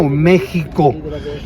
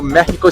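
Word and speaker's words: México: Actually, the city where you are staying now, Mexico, the proper way to pronounce the name of my city is Mexico.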